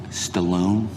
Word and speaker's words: Stalin: gift to my grandfather from stalin in my country it's pronounced stallone you have a sound